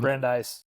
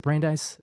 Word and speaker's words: Brandeis: And um as Lewis Brandes, I can't say his name. Um Brandise, is it Brandeise? Um yes.